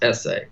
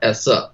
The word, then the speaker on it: esse: Having existence, which he calls esse or essa, depending on your pronunciation.